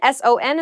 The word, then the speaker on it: son: Son, S-O-N, is pronounced exactly the same as S-U-N, son.